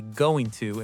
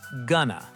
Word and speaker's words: going to: We almost never say going to in fast conversation. We say gonna.